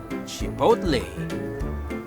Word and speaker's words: chipotle: Ang pronunciation niyan ay chipotle.